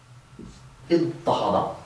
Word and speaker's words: اضطهد: After that dad, we're going to change the ta of the pattern to a ta to get idtahada, a verb that means kind of oppress.